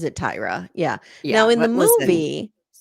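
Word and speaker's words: Tyria: I have It's Tyra, but it's spelled like Tyra. Just Tyra. It is. But they but she pronounces it Tyra.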